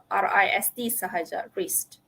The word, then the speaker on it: wrist: silent w o r y okay and rest wrist okay some other silent actors silent U okay